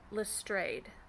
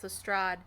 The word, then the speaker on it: Lestrade: don't like is that the narrator of the audiobook is pronouncing lestrade as lestrade and i mean it's been 120 years i think it's commonly accepted knowledge that lestrade is pronounced the strad so i don't know